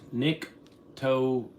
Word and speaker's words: Nyctophilin: Okay, this lady's telling me it's pronounced Nyctophilin.